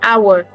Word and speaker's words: hour: Yeah, it should be hour. hour. The H the first word and the second word are pronounced the same are transcribed the same way because the H here is silent.